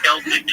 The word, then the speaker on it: Celtic: Celtic is the proper way to pronounce it.